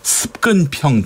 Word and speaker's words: 습근평: 그 중국 그 시진핑 주석의 방북 소식을 전하는 북한 방송 보도를 보니까 습근평 동지라고 하더군요. 습근평. 시진핑을 습근평이라고. 예전에 그 마오쩌둥을 모택동 이렇게 표현하듯이 한자 발음대로 그냥 얘기를 하는군요.